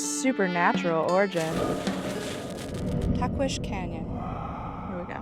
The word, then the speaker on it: Tahquitz: Tahquitz Canyon. Here we go. I think that's how you say it, with the SH.